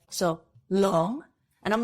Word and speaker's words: Luong: He goes, oh, in America, they couldn't say Long. So I changed it to Luong. And I'm like, so this whole time, 27 years, literally, I've been saying my name incorrectly and correcting everybody.